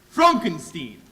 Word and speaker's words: Frankenstein: is that is that that's Frankenstein my name it's pronounced Frankenstein yes yes the whole world